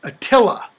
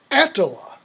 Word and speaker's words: Attila: attacked and sacked rome it's not attila with the accent on the second syllable it's antala antala the hun okay all english words